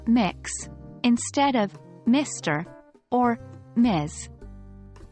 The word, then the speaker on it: Mx: When you're addressing someone whose gender you don't know, use MX, pronounced mix, instead of Mr.